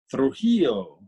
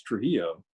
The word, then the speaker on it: Trujillo: joining us live in Las Cruces is Trujillo," and she said something like that, and I'd never heard my name pronounced like that.